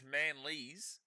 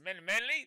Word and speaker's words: Manly: So if anyone comes in here and says Manleys, they're probably going to get timed out. Because no Manleys. No Manleys. There's Manly, there's Manly. You can only spell it M-A-N-L-Y or M-A-N-L-E. Therefore, Manly, which is what we hear at Brookvale every time.